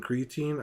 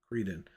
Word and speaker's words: Creedon: See, like this one, creatine, I think is how you say it. But I'll make sure I said it right. Oops, not. Oops. Yeah, I'm pretty sure. Cretin. Creedon. Okay, I said that wrong. Creedon.